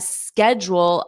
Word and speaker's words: schedule: Schedule, schedule, jewel, schedule, schedule, schedule. And then you just add a strong re in front of it.